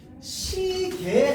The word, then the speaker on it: 시계: 그런데 시계 할 때 이 개는요, 시계로 발음해도 되고 시계로 발음해도 됩니다. 알겠죠? 얘에 둘 다 허용입니다.